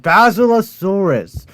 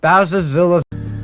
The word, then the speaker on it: Basilosaurus: It's called Basilosaurus, not Basilos.